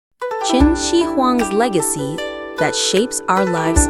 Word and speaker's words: Qin Shi Huang: We remember Chin Xi Huang, pronounced as Chin Xi Huang, the first emperor of a unified China.